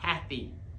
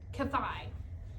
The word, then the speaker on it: Kathy: Kathy. That's right. The emphasis is on the first syllable, not the second. I thought it was pronounced Kathai.